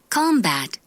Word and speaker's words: combat: 이렇게 약하게 발음이 됩니다. 들어볼게요. Addict. addict, Addict. addict. 두 번째. Combat.